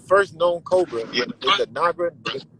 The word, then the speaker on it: Naja: So it's spelled not. It's called Naga, but it's spelled Naja.